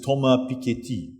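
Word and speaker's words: Thomas Piketty: the wake of uh the proper way to pronounce it is toma pikiti uh um um to pronounce things in french you have to purse your lips a little bit uh and move your hands around um even more than sri lankans do uh until after a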